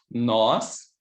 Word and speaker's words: nós: avec cet accent aigu, nós et nos. Donc ça, c'est nós. Et ici, c'est nos. Donc, ce sont des mots, sont différents. Et c'est très important, cette prononce de le O qui est différent.